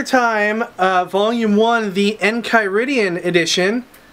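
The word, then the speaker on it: Enchiridion: uh volume one the en kyian Edition I had to ask Ricky how to pronounce that because I was going to say it was the en chyon uh Edition cuz I know nothing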